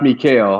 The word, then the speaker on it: Mikkel: Okay, Mikkel, are you ready? Okay, cool. So go ahead, Leticia. Go ahead and bring on Mikkel. Let's bring on Mikkel. How you doing, Mikkel? Hey, it's pronounced Mikhail.